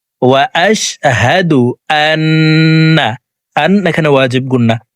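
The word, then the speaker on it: أشهد: দেখুন, এখানে হা জবর হা, হার উচ্চারণ হলকের শুরু থেকেই পড়ব। আশহাদু, আশহাদু বলা যাবে না।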